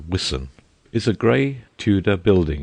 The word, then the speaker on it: Wiston: Wiston House, pronounced Wiston, is a gray tuda building in the midst of a wide park immediately under the hill.